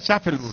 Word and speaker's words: Schaffelburg: Pero vos sabés que mirá, sí, es larguísimo, pero se pronuncia Schaffelburg.